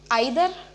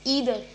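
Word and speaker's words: either: Okay, so द 12th word is आइदर. नो, इट्स ईदर. इधर, या तो मैं या तो मेरी बहन, या तो मैं या तो मेरी बहन कल शाम को पार्टी में जाएंगे. ईदर मी और माई सिस्टर will go टू दी party tomorrow. Okay, ईदर. ठीक है, या तो मैं या तो मेरी बहन. ईदर, नॉट आइदर, ईदर. तो 13th इज थंब.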